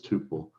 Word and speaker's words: tuple: So you'd send in a tuple here, or a tuple as people say it. I got in the habit of saying tuple, it is tuple, even phonetically speaking.